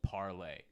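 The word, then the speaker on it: Parler: about parlor before you want to talk about parlor a little bit i don't know i totally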